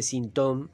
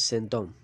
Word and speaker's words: sinthome: un sentón digo porque dice sintom y parece que viene de síntoma no Y la pronunciación es sentón por eso se parece a s om s om Santo hombre si fuera s Tom ya no no no habría homofonía eh digo porque é